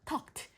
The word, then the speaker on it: talked: 요런 발음으로 끝날 때이가 나오면일 때는 얘를 발음을 트 발음으로 해요. 그래서이 발음으로 하시면 안 되고 talk크드키드 아니에요. talked helped 이렇게 발음하시는게 맞습니다.